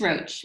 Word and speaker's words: Roche: your last name rocher roche i'm going to say it wrong michelle oh sorry roach sounds it's roach roche sounds better but it's just roach yes joining us is